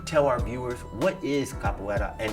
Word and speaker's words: capoeira: You told me you teach capoeira. Pronouncing it right? Capoeira or capoeira? Capoeira.